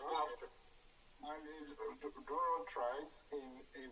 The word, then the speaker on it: Gloucester: Pronounced Gloucester.